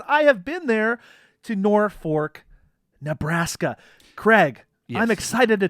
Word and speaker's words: Norfolk: I've been there and I think I know the right answer of how to pronounce nor fork yeah yeah well it doesn't look like nor fork but I believe it's Norfolk n-o-r-f-o-l-k so if you're not